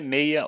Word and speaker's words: meia: Número 6, em português, a pronúncia é meia ou meia dúzia, para evitar a confusão com o 3.